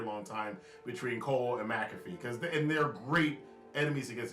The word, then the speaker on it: McAfee: And in the main event, Pat McAfee, his name is McAfee. It's pronounced McAfee. It's spelled McAfee, but whatever.